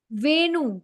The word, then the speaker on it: Venu: Vinu? The flute? Venu Madhuri.